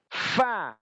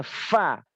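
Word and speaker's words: ف: Fa harus cepat bacanya Fa Ya gigi atas ini gigi si atas tempelkan di batnusfa perut bibir bawah Fa jangan sampai bibir bawah nempel dengan bibir atas bibir bawah nempel seperti pa pa pa Fa yang benar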